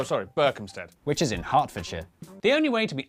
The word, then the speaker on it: Hertfordshire: ER is pronounced R. Berkshire, Clerkenwell, Hertfordshire. But before you get too